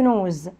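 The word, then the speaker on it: nose: أنف نوز، أنف نوز. الإس دي يا ولاد بنطقها حرف الزد عشان جاية من حرفين متحركين.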